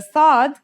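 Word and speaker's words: ص: And it kind of sounds like the s in the word saw. This sound is pronounced with your throat constricted.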